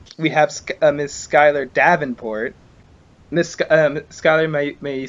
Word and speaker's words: Davenport: Just to make sure, am I pronouncing that correctly? It's Davenport, but it's fine.